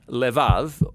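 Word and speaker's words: לבב: We're going to look at the fourth key word in this prayer, heart, which in Hebrew is sometimes pronounced levav, or more often in a shorter form, lev.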